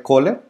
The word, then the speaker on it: Köhler: estamos platicando con roberto köhler esto es correcto pronunciara si tu apellido es k h o lr cola está bien es scratch el herido